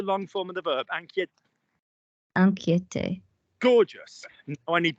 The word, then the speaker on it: inquiète: Now, if you are worried, you can say je suis inquiet or je suis inquiète, as we have done 100 times.